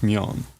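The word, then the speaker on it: 면: It is pronounced myeon.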